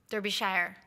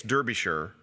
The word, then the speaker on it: Derbyshire: Derbyshire. Yeah, I can't be shire. They never pronounce the shire.